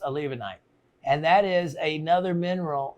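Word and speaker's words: olivenite: kona calci has grown up another mineral called a levonite olive that's how it's spelled a levanite so it's olive night and that's exactly how you spell it olive knight and it would be pronounced a levonite and that is another mineral that is grows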